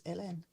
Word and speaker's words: Hélène: I said, well, because this is how you pronounce my name, is LN.